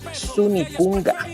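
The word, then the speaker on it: sunikunka: siguiente animal que es Sunikunga. La pronunciación de la última K, o sea, la última sílaba es como la gunikunga. Sunikunga, ya como la g sunikunga.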